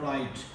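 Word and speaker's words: write: बाद R आता है तो वहाँ पर W साइलेंट होता है। हमारे पे एग्जांपल है, वर्ड हम लिखते हैं राइट, इसको हम राइट पढ़ते हैं, राइट नहीं पढ़ते।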